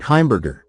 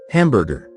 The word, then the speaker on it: Heimberger: Eddie Albert as Oliver Wendell Douglas, born April 22nd, 1906 in Edward Albert Heimberger. Eddie Albert dropped his original surname because he found that people invariably pronounced it hamburger.